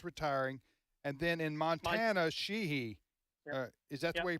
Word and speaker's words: Sheehy: That's going to flip because Joe Manchin's retiring, and then in Montana, Sheehy. Is that the way you pronounce it?